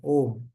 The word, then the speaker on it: Om: say how when you when you put a u and M together is pronounced as om right so the uh